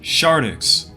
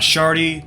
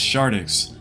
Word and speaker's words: shardix: my name is pronounced shardix not shardy not Shard ex it's shardix the X is not silent I see a lot